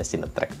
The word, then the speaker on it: CineTreak: Cinetrack ya, bacanya Cinetrack terus dari tadi.